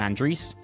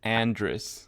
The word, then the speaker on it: Andris: I'm joined by Andre. Hey, how's it going? And let's jump into talking about chatb5. Sorry James, the way you pronounce my name is Andrris, not Andre.